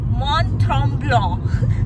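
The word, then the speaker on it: Mont-Tremblant: चांगलं वाला काय आहे अज कसं बोलतात मनथम ब्लॉ हे आहे करेक्ट वाला प्रोनन्सिएशन तरी आम्ही त्याला मॉन्ट्रम ब्लॉ बोलतोय बट हा काय बोला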